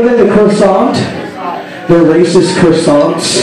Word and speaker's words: croissant: They're racist croissants. It's pronounced croissant. Our baritone guitar player is so PC, she even figured out what food was racist.